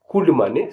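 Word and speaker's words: condemn: COULD, COULD, could माने सकना। अब मैं ऐसे भी आपको वर्ड्स बताने वाला हूं जिसमें एन साइलेंट होगा।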